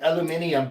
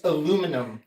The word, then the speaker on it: aluminum: that adds like unnecessary like aluminium that's not necessary it's aluminum it's not necessary your